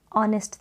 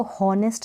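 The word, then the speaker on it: honest: आर यू कैसे थे तो ऑनेस्ट थे अब इसको होनेस्ट ना पड़े और अरेस्ट पड़े यहां पर साइलेंट है यू आर ऑन लिस्ट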